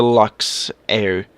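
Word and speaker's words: Luxair: a actual airline but the game is saying it wrong because realistically they airline actually is cold where was thank you it's actually called a Lux air well LeMay uniform x-ray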